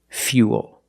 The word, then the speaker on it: fuel: We're going to use the Y sound. Fuel. Not fool, but fuel. We have the same long oo sound after the Y, so it's U, plus the dark L.